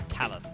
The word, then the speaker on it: Talyn: used to that sadly even though you're a talent I get yeah yeah basically it's basically pronounced like that I wouldn't like the word talent yeah but you had lovely little computer community